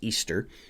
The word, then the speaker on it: Ishtar: goddess as Ishtar, or apparently in the actual language it wouldn't be pronounced Ishtar, even though that's how we spell it. It would actually be pronounced Easter.